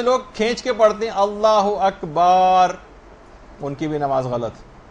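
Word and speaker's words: الله أكبر: مثلا اللہ و اکبر، اللہ اکبر ہے، اللہ و اکبر نہیں.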